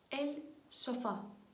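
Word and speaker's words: sofá: на якій ми спимо ельшфа ельшфа наголос на А останнє Так це диван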